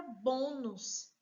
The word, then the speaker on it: bônus: Próxima palavra é a palavra bônus, também acentuada, nos dando aí a facilidade da gente encontrar a sílaba tônica. Se é a penúltima sílaba bo, então é paroxítona.